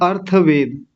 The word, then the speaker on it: अर्थवेद: और चौथा और अंतिम जो है उसका नाम है अर्थवेद। ये अथर्व नहीं है, इस बार अर्थ है।